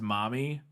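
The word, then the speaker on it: Marmee: non Ric which means they didn't pronounce ours yeah and so marmy would actually essentially be pronounced momy and that this is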